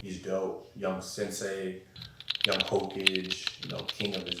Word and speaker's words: Hokage: the mayor I guess no he he he pronounced Hokage H cage dude he said he called Naruto young H cage king of his village bro shout out to kusma he's dope young Sensei young Hokage you know king of his village damn wow